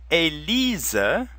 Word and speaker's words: Élise: our accent club sound but a Lisa you see the accent over the first e in a Lisa and phonetically is represented by a normal e this accent is called accent aigu share a Lisa so